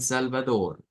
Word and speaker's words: Salvador: G, San Salvador. En esto lo que cambia es la pronunciación de las eres que están que al final. Que las haríamos sonar como una J, es como la R gutural, Salvador, El Salvador, y esto